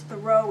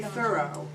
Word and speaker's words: Thoreau: not an academic because I pronounce Thoreau incorrectly right you're supposed to say thorough and I haven't seen the evidence that that's what he said so when I do